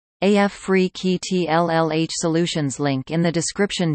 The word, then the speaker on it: Afrekete: Africa at work from home jobs pronounced AF free keytlh Solutions Link in the description job title credit